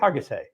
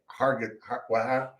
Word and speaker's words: Hargitay: that Mariska, I don't know how to pronounce this woman's name. Hargitay. Hargitay. Hargitay.